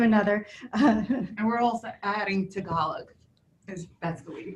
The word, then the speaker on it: Tagalog: And we're also adding Tagalog. That's the way you pronounce yes.